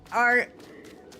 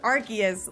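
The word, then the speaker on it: Arceus: Dude, I can't with the person that said Ar. It's pronounced Archus. Like Arc and Zeus.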